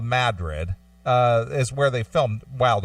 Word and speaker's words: Madrid: we went to Madrid even though it's spelled Madrid okay Madrid it's called Madrid is where they filmed